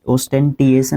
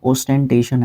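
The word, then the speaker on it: ostentation: ओस्टेंटिएशन, ओस्टेंटेशन, okay, ओस्टेंटिएशन नहीं है, ओस्टेंटेशन है।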